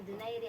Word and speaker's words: Donaire: In English, Donaire, pero sa nato Donaire niya. Oh, Donaire ang saktong pronunciation.